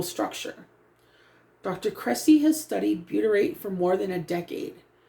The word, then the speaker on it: butyrate: Butyrate. Butyrate, pronounced BYOO, and that's in italics. So, bu, that's how I'm thinking, because boo, but butyrate.